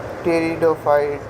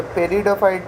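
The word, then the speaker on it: pteridophyte: जी एल्ग ब्रायोफाइट टेरिडोफाइट ये पेरिडोफाइट नहीं है। टेरिडोफाइट है। पी साइलेंट है।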